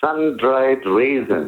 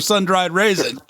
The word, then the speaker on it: Sundaresan: pronounce so the reason just think of sundried reason oh that's perfect you know like problem is I'm a STONER so I can't even remember sun-dried raisin I've read your bio